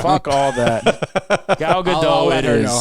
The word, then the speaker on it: Gal Gadot: Yeah, he's just coming for Gal Gadot. Yo, I thought her name was Gal Gadot, and I heard her pronounce it Gal Gadot.